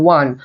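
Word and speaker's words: one: এটি একটি স্পেশাল নিয়ম ফ্রম, কারণ এখানে অ্যান বসবে না এই কারণেই, কারণ এখানে ওয়ান, ও এর উচ্চারণ ওয়া হয়ে যাচ্ছে।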